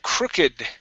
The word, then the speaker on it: crooked: we have the word crooked okay so crook is not a ver verb okay this is going to be an ad going to follow the ed ending rules so instead of uh